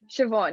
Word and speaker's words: Siobhan: you know dyslexia but shibon like siobhan yeah it's hard because it's irish and it's felt differently